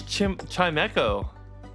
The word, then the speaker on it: Chimecho: Oh, it's Chimecho. Oh, that's good. Okay, thank you. Thanks, Potato. Chimecho.